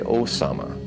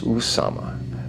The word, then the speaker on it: Usama: They say Osama. It is Usama.